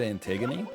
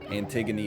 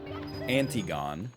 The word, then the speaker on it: Antigone: know she's a lady antigone is a lady and i know that it is not pronounced antigone would be embarrassing to make